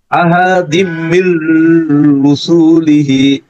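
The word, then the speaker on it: أحد من رسله: হ্যাঁ এইখানেও কিন্তু টান হবে না, মির রসুলিহি। হ্যাঁ আসাদিম কিন্তু এখানে মানে এখানে এখানে গুণা যে হবে। যুক্ত হইছে না, যুক্ত হওয়ার পরে ডাবল উচ্চারণে একটু সময় লাগতেছে।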